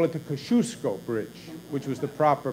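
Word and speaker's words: Kosciuszko: across the aisle we now call it the Kosciusko bridge which was the proper pronunciation as I've learned numerous times there in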